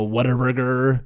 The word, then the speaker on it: Whataburger: food like people downstairs always like you know what a burger yeah which is what a burger but everybody there pronounces it whataburger for some reason are you